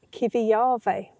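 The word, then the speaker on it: Kivijärvi: So, we've just had two nights at a little community motor home stop at Kivi Yarve. And it is actually pronounced exactly like that.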